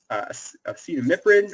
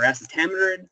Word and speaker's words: acetamiprid: We have acetamiprid or acetamiprid, depending upon how you want to pronounce that.